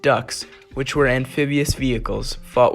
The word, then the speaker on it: DUKW: 4 DUKWs, pronounced ducks, which were amphibious vehicles, fought with Able Company.